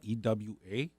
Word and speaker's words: Ewa: My parents immigrated from Japan, and we grew up in this sugarcane town called Ewa, E-W-A. It's pronounced Ewa.